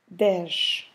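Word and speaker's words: dez: is Das so again now I don't have an S at the end I have a z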